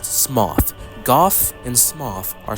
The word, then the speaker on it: Smough: And yes, it's pronounced Smough, not Smo or Smog like many people say. It's pronounced Smough.